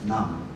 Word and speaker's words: Nam: As you may know, my surname should be pronounced as Nam.